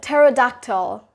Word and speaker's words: pterodactyl: Next word we got is pterodactyl. Now that P in pterodactyl is silent, so you're not going to be pronouncing that pterodactyl or like pterodactyl. It's pterodactyl.